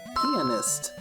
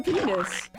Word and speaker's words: pianist: I think you mean to say that Chris is a pianist. That's what I said. They're a penis. No, Susie. Pianist. Penis. You're missing a syllable.